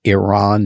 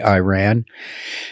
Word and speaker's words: Iran: to pronounce it is Iran that's how the Iranians pronounce it they don't say Iran so Iran uh has